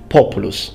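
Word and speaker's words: Populus: the genus called populous or to use actual latin pronunciation populous some of which are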